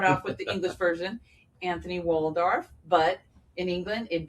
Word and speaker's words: Antony: In English, here in the U.S., it's Anthony Waldorf. In England, it's Antony.